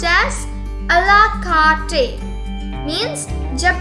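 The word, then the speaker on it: à la carte: It's pronounced as a la carte.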